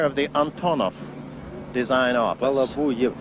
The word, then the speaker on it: Balabuyev: If I may, I would like to introduce this gentleman here, Pyotr Vasilyevich Balabayev, who is the chief engineer of the Antonov design office. Balabuyev. Balabuyev is the exact. Balabuyev is the pronunciation.